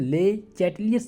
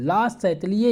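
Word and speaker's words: Le Chatelier: About the factor affecting ले चैटलियस principal. ला चैटलिए इसे कहते हैं दोस्तों, साइलेंट रहता है इस मेचर, सिद्धांत को परिभाषित करने के कारकों की चर्चा कीजिए।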